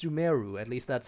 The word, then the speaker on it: Sumeru: keep an eye out i kept calling it sumaru but apparently it's sumeru at least that's how